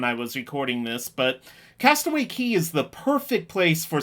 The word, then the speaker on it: Castaway Cay: what you're looking at here is the bahamian island of castaway key spelled cay but pronounced key this island is owned